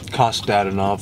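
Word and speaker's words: Kostadinov: Kostadinoff. My name is and I know how to pronounce my names.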